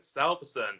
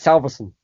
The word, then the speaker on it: Salveson: I've kind of always said it's Salveson, like in this quick way, but it's Scandinavian and it's Salveson, I think, if you pronounce it properly.